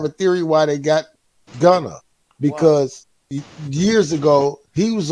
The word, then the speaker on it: Gunna: You said Gunner. What, didn't I say Gunna? About that. Oh, okay. I know you from Ohio, and that's what y'all do. I said Gunna, man.